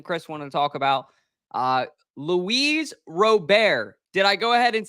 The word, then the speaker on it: Luis Robert: Luis Robert.